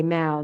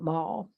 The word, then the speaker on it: Mall: We got over to the Mal, which they say Mal, not mall.